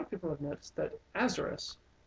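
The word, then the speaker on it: Aesarus: Um, the thing is though, a lot of people have noticed that Azerus is the Egyptian pronunciation of Osiris.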